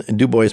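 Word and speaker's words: DuBois: regional sales manager for PPG Industries out of dubo Pennsylvania I always wanted to pronounce it du but it is Du Bo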